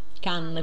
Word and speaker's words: Cannes: Proprio come la città la città della Francia can quindi che nella pronuncia può significare Sì lei può In pratica